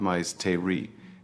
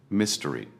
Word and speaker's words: mystery: It is not mais te ri. It is usually 2 syllables, mystery.